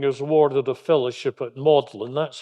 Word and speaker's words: Magdalen: now UNG graduating is awarded a fellowship at modlin that's how this this word looks like mag Magdalene is actually pronounced modlin college and that was this home until 1954